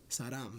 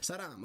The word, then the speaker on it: 사람: 사랑. Wait, 사람. Right? Saram. That's an M. Yes. Saram.